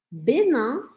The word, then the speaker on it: Bénin: Bénin. Benin, e aqui lembra de deixar sua boca aberta, não é para falar Benin, tá? É Benin. Benin.